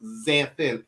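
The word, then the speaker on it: Xanthin: my official name is xanthan x-a-n-t-h-i-n but they're right it will cost me zen for sure and instead of because the x is pronounced as a z so we just say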